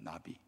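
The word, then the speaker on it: נביא: 선지자는 성경에서 예언자라고 표현했는데 히브리 말은 똑같습니다 나비입니다 나비 나비 있죠 발음이 똑같습니다 그 나비는 뭐 하는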